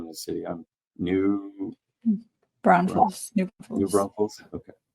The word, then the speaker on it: New Braunfels: And you'll have to pronounce the name of the city. I'm New Braunfels, New New Braunfels.